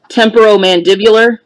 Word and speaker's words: temporomandibular: He's got the correct pronunciation of the word I'm trying to say. Mandibular. Temporomandibular.